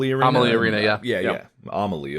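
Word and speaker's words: Amalie: venue right uh the Amal Arena Arena yeah yeah amaly oh I said it wrong the entire time but we were here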